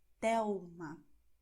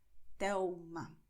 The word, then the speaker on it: Telma: You're going to write L, but you're going to pronounce U, which is why you say Miguel, Thelma. Okay, so this is the way it sounds. Miguel, Thelma.